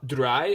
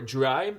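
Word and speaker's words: Drei: say yo swell that's I believe it's pronounced a dry or dry it's dirt little little woods German okay listen listen listen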